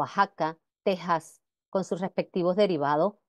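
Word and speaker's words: Oaxaca: varios topónimos americanos Como por ejemplo México o ajaca Texas con sus respectivos derivados mexicano o Aja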